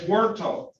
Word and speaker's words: Huerta: It's Huerta, because the H is silent, right?